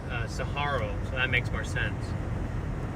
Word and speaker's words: saguaro: Saharo. I don't know why I've always called him a Siguaro. If that's how you pronounce it, I'll pronounce it that way. Uh even though I'm an Arizona native, I still You're the first person that's corrected me. Okay. So, that's the right way.